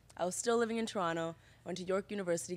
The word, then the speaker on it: Toronto: Toronto I was getting Toronto you don't pronounce the T by the way if you want to sound like you belong wait this is why